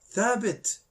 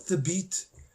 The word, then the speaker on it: Thabit: Thabit, not Thabit.